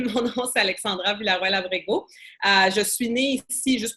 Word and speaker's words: Alexandra Villaroel Abrego: super parfait donc comme pénéope l' si bien prononcé mon nom c'est Alexandra villarabg je suis née ici juste pour parce que